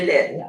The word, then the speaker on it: Line: That's how, because in French you don't pronounce the last, the E's at the end, they never pronounce, so it's become Lynn.